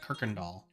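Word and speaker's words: Kuykendahl: lived it was called the road was Kirkendall which sounds like it'd be fine to pronounce but the spelling was all over the place there was a u and a y and there was no r in it at all but everyone said Kirkendall okay well I don't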